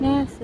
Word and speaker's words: Nassau: I liked Nassau, that's how you say it. Nassau is how the locals say it, so I liked